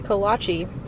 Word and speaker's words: kolache: a cherry and a strawberry kolache which apparently is how it's pronounced i asked the lady so i think this